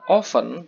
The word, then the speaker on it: often: So, in this way, how often is it used atau berapa banyak digunakannya. Dalam hal ini, di sini ada always, bacanya adalah always, and then usually, and then often, bukan often, tapi often, and then sometimes, bukan